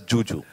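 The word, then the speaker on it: Zhu Zhu: So it's written as Zuzu, but she pronounces it as Juju.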